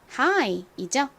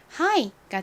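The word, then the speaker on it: high: 됩니다 그래서이 단어의 발음이 하이가 되는 거죠 자 발음 따라해 보세요 높은 하이 하이 좋습니다 같이 써 볼까요 h i 그리고 gh gh n 다시 한번 말씀드리지만 여기서 묵음으로 소리가 나지 않죠 이번엔 안 보고 써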